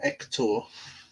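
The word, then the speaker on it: Héctor: Now, my view on Hector, or Hector, to use a Spanish pronunciation, is, well, I've got nothing against Hector, but I do think that it's time to move on.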